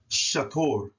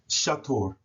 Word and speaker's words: shator: in their proper place, should be pronounced shator, shator, shator. Now, some people may pronounce the UR as an but that's improper because the U is U and the Ri is R. So it's or, as in like if we was to spell it in English, OR, shator.